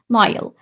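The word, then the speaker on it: Nile: ازاي ذا كلمه لوحدها نايل لقيت الماجيك اي هتقول الاي سي يور نيم قول اسمك يبقى الاي اتنطقت زي اسمها بالضبط وهتتكتب اي بس نايل نايل طيب كلمه ريفر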